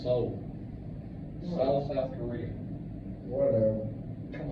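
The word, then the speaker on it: Seoul: the zoo we made it installed what is pronounced soul South South Korea whatever come on he's supposed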